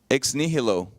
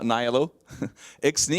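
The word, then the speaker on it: ex nihilo: heard of this before how do you say that exilo right Latin way not n exilo you know what that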